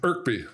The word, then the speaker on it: Kirkby: goes into self Kirkby uh irkby South Irby someone said in the comments it's a silent k that's wonderful so if